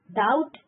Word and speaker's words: doubt: Doubt D silent.